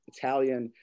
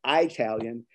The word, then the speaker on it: Italian: This crazy, strange word, Italian, seems to graphically draw out the long I mispronunciation of Italian as Italian to make the adjective completely and crassly American, at the same time